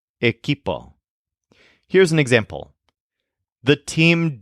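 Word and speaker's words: equipo: refers to a group of people the word eipo which means team this is spelled eqi p o eipo here's an example the team didn't manage to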